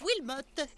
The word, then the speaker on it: Wilmot: Ça se prononce Wilmot.